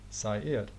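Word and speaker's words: Seir: Zaire and the biblical Sair. But in the Bible it's spelled S-E-I-R, but this pronunciation is very similar to Zaire.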